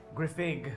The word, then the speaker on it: Griffig: Griffig with a Fig. hard G.